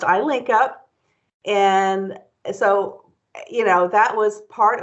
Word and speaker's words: I-LinCP: in Capital Projects, I-LinCP, and so, which is pronounced I-LinCP.